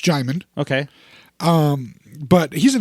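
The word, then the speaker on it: Djimon: I do know that his name starts with a D by the way but it's pronounced jaymund okay um but he's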